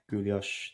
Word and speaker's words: guilloche: I've always been fascinated by the guilloche technique. Is that how you pronounce it?